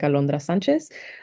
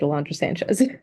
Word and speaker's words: Alondra Sánchez: alandro Sanchez um I always introduce myself like that in in English and then I tell people if they know how to speak Spanish they can say it like Alandra Sanchez otherwise please just say it Alandra Sanchez um but yeah so